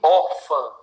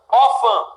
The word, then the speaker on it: órfã: ímã e órfã. Ímã e órfã. Duas palavras aqui, olha, divisão silábica. Ímã, órfã. Sílaba tônica, im, or. Sílaba tônica é a penúltima.